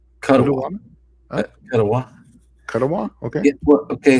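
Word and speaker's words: Kuttawa: I don't even know how to pronounce Cuttawata. Cuttawa.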